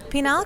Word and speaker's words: penile: It's not to be confused with penile, kind of rhymes with banal.